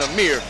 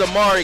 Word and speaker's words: Amari: I spelled your name wrong in my book. That's why I was saying Amir. So it is Amari Kelly, and those were our CBA Sports keys to the game.